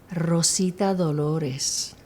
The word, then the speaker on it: Rosita Dolores: Rosita Dolores.